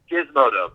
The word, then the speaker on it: Gizmodo: There's a big article coming out on Wednesday, and God, I'm sorry, I can't pronounce it. Gizmodo, sure. Gizmodo, thank you.